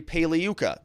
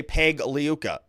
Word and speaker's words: Pagliuca: we also see Jeffrey paliuka like I said the g is silent so you know keep that clean it's like lasagna you don't say lasagna so don't say Peg liuka it's liuka obviously now